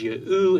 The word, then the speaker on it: Yehu: The names in these texts demonstrate that the Tetragrammaton would have been pronounced as Yehu in Aramaic. However, the He in Aramaic is silent, which proves that the